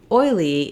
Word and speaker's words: oily: go through that process move to oily it changes because we have two syllables so now my UL sound is more of a light L because it's followed by the e sound so I can really just say my diphthong oi and then my start